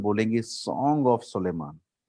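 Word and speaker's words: Solomon: श्रेष्ठ गीत को हिंदी में बोलेंगे, सॉरी अंग्रेजी में बोलेंगे song of सोलेमान। Song of सोलेमान, सोलोमन, सोलोमन अंग्रेजी में सोलोमन है।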